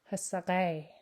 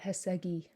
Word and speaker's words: hasakai: The K turns to a back G, which I forgot to underline. And a vowel slips in there, so it gets pronounced hasakai. Hasakai. Not hasagi. Hasakai.